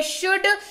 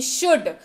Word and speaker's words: should: यहां पर भी एल को बोलना है भाई, थोड़ी देर चुप बैठ जा, है ना। SHOULD, एल साइलेंट, यानी कि शुड, चाहिए इसका अर्थ होता है।